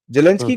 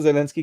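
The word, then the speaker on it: Zelensky: उसने जाके जेलेंस्की, मैं एक्चुअली जेलेंस्की नहीं बोलता, मैं जेलेंस्की बोलता हूं। जेलेंस्की को बोला उसने कि बेटा करेक्ट आपका जो प्रोनाउंसिएशन जेलेंस्की ही होगा।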